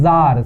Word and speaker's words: czar: रूस के शासक को हम कहते हैं जार, CZAR, इसमें C का प्रोनाउंस नहीं होता है, तो ये हो गया जरीना, CZARINA, जरीना।